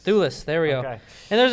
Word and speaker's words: Thewlis: David Thewlis. Thewlis, there we go.